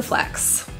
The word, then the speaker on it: flex: know he likes to flex the pronunciation We Do not drop the k sound flat flop this means